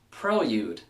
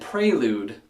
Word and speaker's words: prelude: Number 11, prelude. But we can blame Honda for getting people to pronounce it prelude.